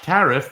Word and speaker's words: Tariff: think, "Oh, it's pronounced ter." And it's just like, "No, it's tariff. Just just like the tax."